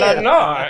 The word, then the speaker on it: Lenore: I feel like I have to say it like Edgar Allan Poe. Thank you. Lenore.